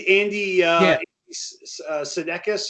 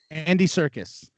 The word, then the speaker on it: Andy Serkis: Oh, and Andy Sudeikis or yeah, Andy Sudeikis.